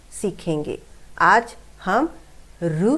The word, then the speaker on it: ऋ: रु की मात्रा, आप मराठी में इसे रु बोलते हैं, लेकिन जब हिंदी में हम इसको प्रोनाउंस करते हैं बच्चों, तो उसे हम री कहते हैं।